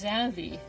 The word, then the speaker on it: Xavi: little boy, he did not know how to pronounce his name. His name is Xavi, X-A-V-I, Xavi.